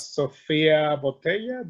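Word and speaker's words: Sofia Boutella: Sofia Botella, is that her name?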